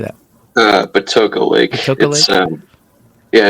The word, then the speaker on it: Patoka Lake: Patoka Lake.